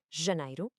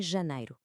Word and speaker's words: janeiro: Primeiro, o som do G em janeiro. Não é um som explosivo como o J de jeans em inglês.